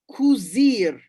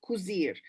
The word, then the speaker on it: kuzir: so is kuzir okay it is kuzir now spanish people or spanish-speaking people will think it's strange because in spanish the verb is corset we should not confuse that with cuisine or coser now when you say